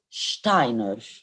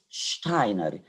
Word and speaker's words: Steiner: studies is called George Steiner George Steiner yes the S here is pronounced as sh because ER is a